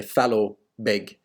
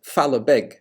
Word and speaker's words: Fallowbeg: So I'm sure there are people nowadays in that area that say Fallowbeg, but Fallowbeg was the pronunciation intended.